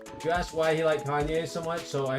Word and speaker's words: Kanye: You asked why he liked Kanye so much. So, I said because it rhymes with Wall-E.